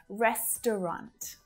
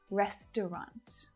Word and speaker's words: restaurant: many consonants together so if you find that a little tricky stick with restaurant restaurant try this one with